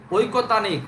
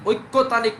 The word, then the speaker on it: ঐকতানিক: ঐকতানিক, ঐক্যতানিক না, উচ্চারণটাও ঐকতানিক। হ্যাঁ, না না, ঐকতানিক, ঐক্য না, ঐকতানিক, এটাকে সমমেলও বলি আমরা।